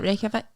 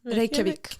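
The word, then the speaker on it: Reykjavík: Reykjavik. Reykjavik.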